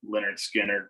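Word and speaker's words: Lynyrd Skynyrd: my next one the album is pronounced leonard skinner by leonard skinner another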